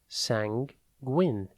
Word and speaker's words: sanguine: a time today's word is sanguin it is pronounced sangwin and it's spelled s a n g e